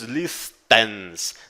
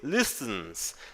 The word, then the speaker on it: listens: E a letra T você não diz listens, não, e sim listens. Ele é um T para dentro, tá? Você fala com a língua presa lá no fundo.